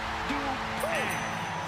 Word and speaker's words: Dupree: Michael, it's pronounced Dupree.